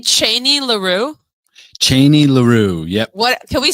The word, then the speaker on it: Cheney LaRue: Cheney LaRue. Yep. What can we spell that for the viewers?